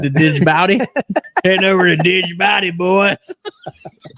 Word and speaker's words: Djibouti: Jeff Warner said I'm taking my Take Warrior fishing jersey to Djibouti with me to wear. What? Djibouti. Why is there a D in it, though? Isn't it Djibouti? The D is silent. The Djibouti?